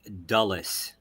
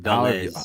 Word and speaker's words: Dulles: Alan's surname is pronounced Dulles, not Dis.